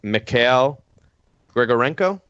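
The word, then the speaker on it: Mikhail Grigorenko: you know I'm going to say it wrong McHale grigorenko all right I was right all right so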